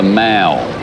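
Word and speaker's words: Mall: front of Buckingham Palace called the Mal it is it is spelled the same way as Maul in our country cigarette named after and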